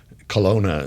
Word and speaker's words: Kelowna: Kelowna is how you pronounce it, right?